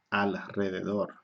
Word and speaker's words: alrededor: o s se escribe se escribe una pero se pronuncia doble ok por ejemplo alrededor de dos rounds de